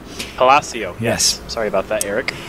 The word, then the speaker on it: Palacio: Just a quick pronunciation note, they wanted to make a note of that it's Palacio. Palacio, yes.